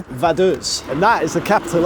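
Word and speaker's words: Vaduz: already this city is called Ethan please your pronunciation vus and that is the capital of lonstein lonstein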